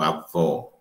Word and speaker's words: avó: diferentes uma das outras eu digo assim avô avó então esse ou fechar o avô o aberto da onde é que